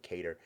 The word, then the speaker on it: Kattar: from his management team and they said Calvin cater so I'm pretty sure they know what it is so I think we need to change that pronunciation the Calvin cater at